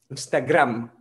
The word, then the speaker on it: Instagram: original es instagram pero en español la llaman instagram tienes instagram instagram con la m muy bien marcada instagram en la próxima